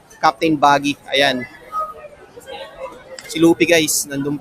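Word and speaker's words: Buggy: natin to ang pangalan niya si Captain Bag Captain Bag So guys Nagkamali ako ng pronunciation. Captain Captain Baggy.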